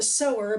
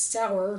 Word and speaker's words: Sower: The Parable of the Sower by Octavia Butler, which I believe I've been pronouncing as sour, not thinking about to sow and sower.